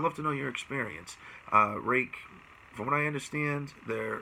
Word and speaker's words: Ruike: like it would be rook or a wiki or Waikiki whatever but the majority of the sources I found it is pronounced rake so that's just what